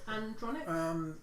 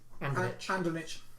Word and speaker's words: Andronich: Okay, so how do you is it Andronic? Andronich. Andronich. Yeah.